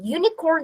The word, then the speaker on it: unicorn: Unicorn деген сөзде U деген дыбыс бізде білесіздер дауысты.